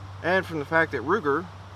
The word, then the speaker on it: Ruger: from the fact that Ruger rhymes with Luger but that is just